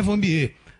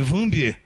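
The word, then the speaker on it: Wambier: questão de dizer que a pronúncia correta não é Vanbier, é Vanbier. Enfim, faz parte da opção de escrita do nome dela.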